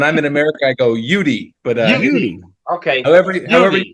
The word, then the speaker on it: Uitti: a young man a Seattle based writer am I saying it right um that's I think that's how the Finnish would pronounce it but I when I'm in America I go yudi but okay however however you want to say